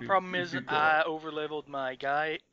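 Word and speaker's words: Gaige: is I overleveled my gage g I still don't know how to pronounce her name it's Gage it's Gage Gage look well I have I'm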